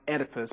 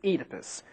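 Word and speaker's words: Oedipus: First off, you may have heard this guy's name pronounced Edipus, but we pronounce it Edypus. Why? Because we like it that way. Actually, it's because this pronunciation is more true to the Greek original.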